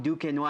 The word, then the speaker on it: Duquesnoy: out of Paris France dukino how you doing I'm good thank you is that okay pronunciation of your name yeah yeah that's actually perfect so the fire kid